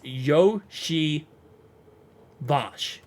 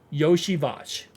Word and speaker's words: Iosivas: as we call him, he posted on his Twitter exactly how to say it. It's Yoshi Vash. Yoshi Vash.